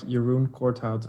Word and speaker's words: Jeroen Corthout: names no you're you're you had it right earlier but you were going a bit fast now it's more like your room courthouse at least with an english accent yaroon cout okay